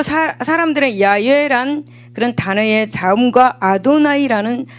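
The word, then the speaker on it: 야훼: 이름을네 개의 자음음 이렇게 어 이루어졌습니다 따라서 본래의 발음은 야외 혹은 야외라고 그렇게 발음합니다 하지만이 고대 히브리인들은 출애굽기 20장 7절에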